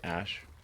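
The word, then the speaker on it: Æ: and then the a ae is like pronounced ash yeah and then uh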